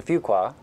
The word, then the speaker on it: Fuqua: Fuqua School of Business that's not one qua it's not two qua it's a fqa so my 10-year-old told me to remember how to pronounce the school's name we are here on